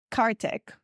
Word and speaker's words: Karthik: Taboo with Mimi I am here today with cark did I pronounce it correctly it got it right yeah